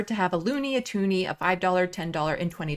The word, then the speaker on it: toonie: two dollar coin and we wanted it to rhyme with looney so it became the toonie that's the story in